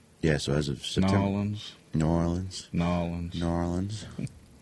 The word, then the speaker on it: New Orleans: So as of September, New Orleans. It's no New Orleans. Not New Orleans. It's New Orleans. Nolans.